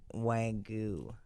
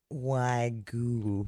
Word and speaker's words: wagyu: really bad at saying wagyu. Wagyu. Wagyu. How do you say it, Blake? Say it to me. Yeah, how about that? Wagyu. Wagyu. Say the dang Y.